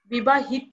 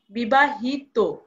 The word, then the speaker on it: বিবাহিত: হবে এখানে কি বলেছে তত প্রত্যয়ন্ত শব্দ যদি বিশেষণ হয় সেই অন্ত অ এর উচ্চারণ কি হবে ও কারণ হয়ে যাবে যেমন ধৃত ধৃত হবে না ধৃত বিবাহিত হবে না বিবাহিত কারণ আমরা এখানে কি